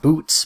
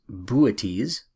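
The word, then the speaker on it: Boötes: sickle second Spring constellation looks like boots but it's actually pronounced booties and booties represents a herdsman or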